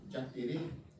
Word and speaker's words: Jaterê: pronunciar a palavra certa, porque a palavra certa é Jati, Jaterê, então ele simplificou para Saci Pererê.